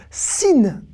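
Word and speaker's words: שׂ: Eh oui, soit il s'appelle le Shin et il se prononce Sh, soit il s'appelle le Sin et il se prononce Se.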